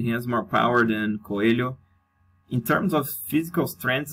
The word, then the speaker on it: Coelho: vs alex the silva coelho or coyojo as you guys would pronounce probably in english so actually this is the the fight that i'm most confident to bet i'm betting coelho even though i'm picking